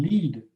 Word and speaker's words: Lead: At the home state gold mine in Lead, South Dakota, pronounced Lead, which is now the site of Dune, the Dune detector, the Sanford Dune detector.